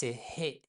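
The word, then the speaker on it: ح: letter, it's He. In French, you consider h as a vowel most of the time. But in Persian, it's pronounced. It's as if you're breathing.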